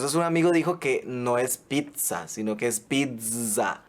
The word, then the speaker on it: pizza: no adaptado al español lo ideal es pronunciarlo con una t y una zeta como en italiano o sea pizza y su escritura es